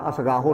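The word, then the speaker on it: ਅਸਗਾਹਾ: उस तो बाद सुनिया हाथ होवे असगाहा, असगाहो नहीं पढ़ना है, आप असगाहा पढ़ना है।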